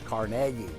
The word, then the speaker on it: Carnegie: town called this area we live in Carnegie if you live here it's Carnegie on the offseason he